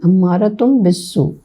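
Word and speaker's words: أَمَّارَةٌ بِالسُّوءِ: read, nafsum ammarat I'll read the exact correct pronunciation. Ammaratun bisu.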